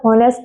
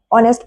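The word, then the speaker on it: honest: यहां पर होनेस्ट नहीं पढ़ाया जाएगा। ऑनेस्ट पढ़ा जाएगा क्योंकि एच वर्ड साइलेंट रहता है।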